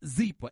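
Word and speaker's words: Zyppah: It's pronounced Zeeper, and it's spelled Z-Y-P-P-A-H. You know why it's easy to remember? Because it's Happy Z spelled backwards.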